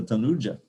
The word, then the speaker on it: Tanuja: The next one is much more intimate, Nanda Tanuja. Also, it's a long U there. That's another difference you'll find in the book. Ay Nanda Tanuja Kinkaram Patitam Mam Vishame Bhavam Bodho Nikripaya Tavapada Pankaja Sitadhuli Sadhushang Vachindaya.